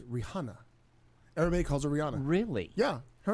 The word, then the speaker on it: Rihanna: I was reading something else, but following along with the mispronunciation of a name. No. It's not Rihanna, it's Rihanna.